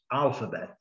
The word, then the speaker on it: alphabet: Está em amarelo porque é a sílaba mais forte, alphabet. Esse símbolozinho à esquerda, ele está aqui porque a primeira sílaba é a mais forte. Se a segunda fosse a mais forte, ele estaria indicando na segunda.